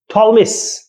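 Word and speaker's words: Ptolemy: Cleopatra, थॉलमिस, पी इसमें silent है।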